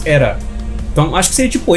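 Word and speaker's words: Aera: Ele escreve A-E-R-A, só que eles pronunciam ali no japonês Era.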